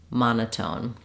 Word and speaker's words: monotone: sometimes an unreleased T in this case it's just the same as in the word tone we use the true aspirated T sound so you can say tone monotone you can hear how it sounds strange if I said monotone um it doesn't sound correct so this is one example of a t in the middle that is just like a t at the beginning of words um um so not